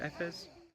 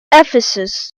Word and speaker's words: Ephesus: I obviously was very disappointed with Artemis, but once I got to the city of Ephes, is that how you say it? Ephes? Ephesus.